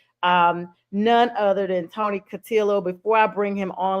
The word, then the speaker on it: Cutillo: my newest member of the podcast family Tony catillo Tony am I pronouncing your name right yo you got it